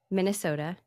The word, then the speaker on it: Minnesota: Well, I know that you are a Lutheran pastor in Minnesota, right? Yeah. You have to say it like this, though. Minnesota. Minnesota. That's right. Minnesota. You got to kind of draw that last bit out.